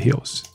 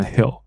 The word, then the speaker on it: heels: high heels， OK，一般来说 high heels， heels， high heels，后面这个不要念成 hill， hill 是山坡哦，不对